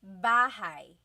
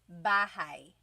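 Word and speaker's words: bahay: You might notice that the spelling is a y at the end. So it looks like bahi, but it's pronounced bahigh. That ay combination is bahigh.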